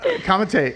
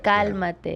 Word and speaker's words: Cálmate: Kamate. Is it? How do you say? Is it kamate? Kamate. Kamate. Cálmate. Calmate. Yeah.